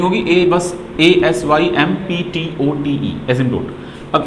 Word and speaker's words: asymptote: Spelling होगी बस ASYMPTOTE, एजिम्पटोट।